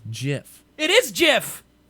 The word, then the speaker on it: GIF: as an image it's GIF it is GIF J if it's a gif no now you're changing your argument it's pronounced J if it's spelled g if that is how